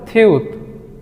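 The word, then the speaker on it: 티읕: এর মত তাই না আচ্ছা এইটাকে কোরিয়ানরা বলে থিউত থিউত এটার মূল উচ্চারণ থপর আমরা যেই বর্ণটি দেখতে পাচ্ছি এই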